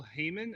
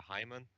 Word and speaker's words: Haymann: When people try to pronounce it English, it sounds like a Hyman. It's always a bit awkward. So, no, Haymann is fine.